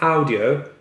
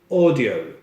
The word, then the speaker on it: audio: It's not audio, it's audio. Okay?